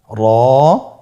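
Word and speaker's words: ر: র এবং জা। র হরফটি এখানে আমরা পোর করে উচ্চারণ করব, মোটা করে উচ্চারণ করব, এবং র হরফটি 1 আলিফ টেনে পড়ব।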